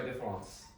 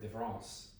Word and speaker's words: différance: It's a deliberate misspelling, though the two are pronounced identically.